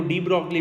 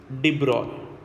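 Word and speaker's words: de Broglie: अब अगर इसको प्रोनाउंस करें तो लिखा हुआ अपने को डी ब्रॉगली मिलता है, बट एक्चुअली होता क्या है आपका कि भाई इसका नाम क्या बोलते हैं अपन? Louis डी ब्रॉय।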